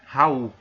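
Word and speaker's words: Raoult: a lei de Raul embora escrita seja essa tá nome desse cientista que contribuiu muito para as propriedades coligativas a sua pronúncia é Raul então a lei de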